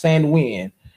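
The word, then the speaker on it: Samhain: A GIC word pronounced Sanwin.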